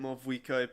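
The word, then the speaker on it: Mavuika: Oh, and feel free to call me Mawika. It's what all my friends call me, and I like it that way. Also, I'm happy that... Because I started pronouncing it Mawika before I've ever heard it pronounced that way, As so...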